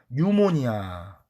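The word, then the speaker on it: pneumonia: 흡입성 뉴모니아. 이건 이제 우리가 뉴모니아라고 읽어요. 앞에 P자는 묵음이에요. 뉴모니아라고 있습니다.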